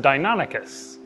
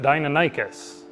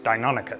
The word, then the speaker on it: Deinonychus: found out yesterday is actually pronounced Deinonychus as if it were a Greek word which makes sense because